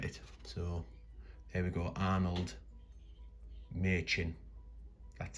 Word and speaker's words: Arnold Machin: So there we go, Arnold Machin. That's how that's pronounced, Arnold Machin.